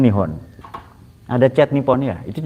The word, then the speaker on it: Nihon: hidup Jepang gitu tok itu Nipon itu cara bacanya nihon ada chat Nipon ya